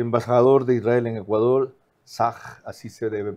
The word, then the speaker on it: Tzach: El embajador de Israel en Ecuador, Sag, así se debe pronunciar el nombre.